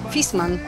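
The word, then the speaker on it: Viessmann: Marka dobrze znana choć nazwa się okazuje często nieprawidłowo wymawiana jak to mówimy poprawnie fisman fisman no Widzicie kolory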